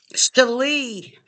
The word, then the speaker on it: Shali: Um Shali actually is the correct pronunciation.